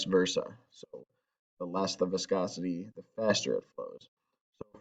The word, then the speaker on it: viscosity: So the first one is viscosity. That's how you pronounce this word, which by definition means a liquid's resistance to flow or resistance to flowing.